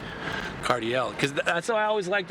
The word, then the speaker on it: Cardiel: You know, that's how you mean like if you say it Cardio ledge, it's like you don't say it like Josh Kais ledge. No, you don't say that. You say Cardiell.